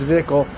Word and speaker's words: Zwickel: So our flagship lager, pronounced Zwickel, is an unfiltered, unpasteurized German classic that finishes as smooth drinking, vitamin-rich from the yeast, naturally cloudy beer.